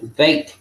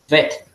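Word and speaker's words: בית: Por ejemplo, algunos pronuncian Beit. No es así, se pronuncia como una E súper larga. Vet, no Beit.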